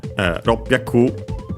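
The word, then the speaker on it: 六百: Ropyaku, luckily also accented on the last syllable.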